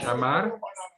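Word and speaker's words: שמר: Aquí yo le quiero pedir a nuestro hermano si me puede pronunciar este verbo, que ya se me olvidó la pronunciación. Chamar.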